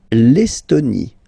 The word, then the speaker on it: Estonie: L'Estonie. Final E, not pronounced.